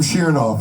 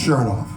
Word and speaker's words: Shernoff: Took me three tours and 70 gigs to remember the the correct pronunciation. So, I call him Shernoff, it's Shernoff.